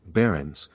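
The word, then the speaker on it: buryings: are called in Cornwall bearings pronounced Barons were once almost Universal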